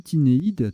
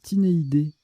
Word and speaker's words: tinéidé: J'ai dit tinéide tout à l'heure, honte à moi, c'est tinéidé.